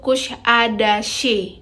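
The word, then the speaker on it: Kuşadası: Kalau tulisannya sih Kusadasi, tapi ada cengkoknya gitu, Kusadasi gitu. Begitulah orang Turki pelafalan namanya.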